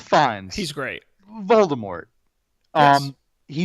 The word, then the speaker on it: Fiennes: who's played by Ralph I never know how to pronounce his last name he ends finis VN spines I think it's fine I think it's finds Ralph Fiennes he's great Voldemort um